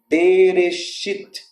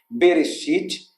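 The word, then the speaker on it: בראשית: Aqui eu tenho um B, Re, o Aleph é mudo.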